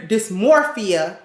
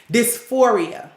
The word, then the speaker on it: dysphoria: their experience of gender dysmorphia is that how you say it dysphoria not dysmorphia gender dysphoria i felt like